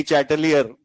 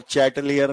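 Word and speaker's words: Le Chatelier: बाकी एग्जैक्ट नाम ली है ही नहीं, ला है, और चैटलियर नहीं, ये है फ्रेंच वर्ड जहां पे LE को ला पढ़ा जाता है, और चैंपियन वाला नहीं है, शैंपेन वाला है, लास्ट वाला आर साइलेंट है।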